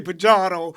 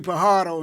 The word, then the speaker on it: Pajardo: Baltimore native, the homie, Chet Pajardo. The J is silent. J silent. I'm glad you caught it. You did a good job. You did a good job because a lot of people say Pajardo, but it's really Pajardo in Spanish-speaking countries.